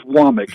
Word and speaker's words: Womack: And number one, thanks for pronouncing it Womack. Coach has been down here for a couple of different stints, and we still hear Womack and whatever it may be. It is Womack.